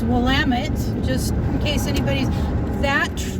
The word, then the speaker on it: Willamette: in the Willamette Valley not the Willamette II like I've heard it pronounced its Willamette just in case anybody's